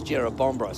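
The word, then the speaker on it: Jerrabomberra: Um, it's where I'm from is Jera Bombber and this is Jerab Bombra. So, you know, pretty close, but the same.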